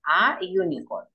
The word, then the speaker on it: unicorn: A unicorn. Porque es como que si usted dijera you.